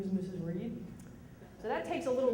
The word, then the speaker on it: Read: as as you know my name is Reed and that is spelled re e a d you can call me